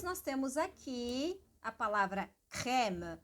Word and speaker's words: crème: Crème que tem aqui um acento grave, então é importante, né? Crème. No caso dessa palavra, justamente porque tem um acento, então imagina as ondas sonoras, né? Crème. Sobe e desce.